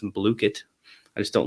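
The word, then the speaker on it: Blooket: And my favorite is Blookit, actually pronounced Blookit.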